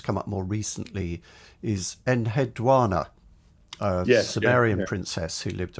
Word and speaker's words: Enheduanna: I should say I can remember how to pronounce her name from Cyndi Lauper, from Girls Just Gotta Have Fun. Just wanna. Enheduanna. That gives you the right kind of intonation, I feel.